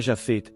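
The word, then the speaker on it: Japhet: Jafet, pronunciei o PH com som de F, e ele me corrigiu dizendo que era Jafet, PH com som de P, confirmando que o nome tinha descendência judaica.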